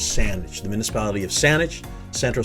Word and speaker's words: Saanich: in great victoria exist i've heard this pronounced saenich saintage this is saanich it is sandwich the municipality of saanich